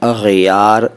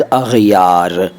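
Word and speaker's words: اغیار: करार दाद इसके बाद अग यार इसका भी उच्चारण ध्यान से सुनिए अग यार अग यार नहीं अग यार अग यार गैर का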